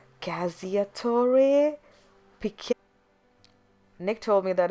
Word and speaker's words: cacciatore: Oh my god, I know what this is, but the problem is that I can't pronounce what's called. It's Cacciatore.